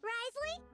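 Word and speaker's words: Wriothesley: Risley, that's how you say his name.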